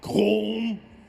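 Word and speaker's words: Colm: Rockstar told me to say it wrong, even though I you know it's pronounced column, right? And they didn't care. Uh, so I would have pronounced Colum O'Drriscoll properly being Irish. It's column. It's not column colum.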